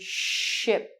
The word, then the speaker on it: ship: As I said before, we have the word ship. One thing you must be very careful about is you have to really say the P at the end of the word as well. The pronunciation of the P